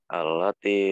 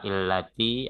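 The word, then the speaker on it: الَّتِي: Kok nggak illati atau ullati? Kenapa dibaca allati? Nah, itu ada lam. Iya, dia menjumpai huruf lam. Kalau hamzah wasal menjumpai huruf lam, maka dia dibaca selalu a, ya.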